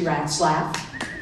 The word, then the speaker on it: Ratzlaff: This is my best friend, Cindy Ratzlaff. That's her real name, Ratzlaff. People always ask her how to pronounce her name, and I say mice giggle and rats laugh.